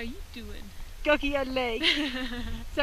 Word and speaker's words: Gokyo: Gokyo Lake.